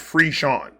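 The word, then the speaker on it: frisson: It's pronounced Freon.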